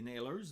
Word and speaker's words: Nailers: Les Nailers, mais là, c'est un nom qui se prononce à l'anglaise. C'est un nom anglais dans le fond, puis on chante en français.